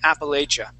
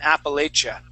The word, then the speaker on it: Appalachia: pronunciation it would be Appalachia Appalachia and we're going to use a cha sound Appalachia Appalachia good nice job very good